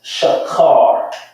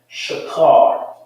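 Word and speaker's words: שחור: Is shakar. Shakar.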